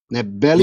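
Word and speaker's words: Ndebele: Historically, Shona and Nebeli, am I saying it right? Yeah, Nebeli yeah.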